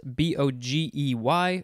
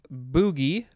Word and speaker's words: bogey: So number one looks like it's pronounced boogie or bogey or boogie. The synonyms are specter and phantom. Number two, pronounced like bogey or boogie or bogey, something like that.